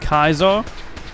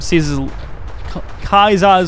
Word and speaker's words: Caesar: It's pronounced Kaiser. I only pronounce it Kaiser when I'm doing a Caesar's Legion playthrough. Otherwise, I pronounce it as Caesar because Julius Caesar.